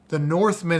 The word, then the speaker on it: The Northman: numbers you Dad man North man not Norse North that's just my no it's not my you just mispronounced it my Mumble mouth the